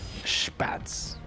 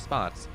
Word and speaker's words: Spatz: Spatz. I don't know if that's true or not, but Mafu does tell me that calling it Spatz instead of Spots is the correct pronunciation.